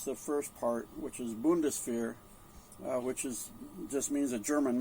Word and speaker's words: Bundeswehr: Well, I know how to pronounce the first part, which is Bundeswehr, which just means a German military, right?